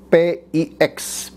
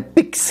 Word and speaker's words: Pix: itu ada Kasino yang logonya Pix kalau bacanya fix gitu ya Padahal maksudnya P itu petak ixnya itu romawi 9 jadi itu petak 9 walaupun itu gedungnya ada